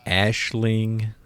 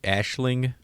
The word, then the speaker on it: Aisling: Ashling Franchosi. Are you gonna... As soon as I say her name anytime during this thing, just say it right behind me. I'm gonna correct you. Ashling Franchosi.